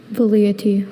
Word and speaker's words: velleity: Velleity. Are there any alternate pronunciations? Velleity and velleity.